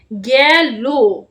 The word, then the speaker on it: গেল: এর মত হবে লো আলো হয় হতে হয় গ্যালো গ এ একার যেহেতু এখানে একার আছে সেজন্য উচ্চারণটা এর মত হবে গ্যা মানে এর মতো